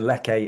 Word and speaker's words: Lerche: That's Sondra, and then Leke is spelled Lerche.